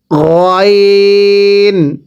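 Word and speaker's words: غ: গয়ন, এটা গলার মাঝখান থেকে উচ্চারণ হবে, চাপ দিবেন না গয়ন।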